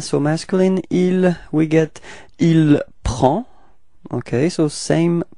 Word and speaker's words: prend: Il and elle, so masculine, il, we get il prend. Okay, so same pronunciation, final day is not pronounced, so it's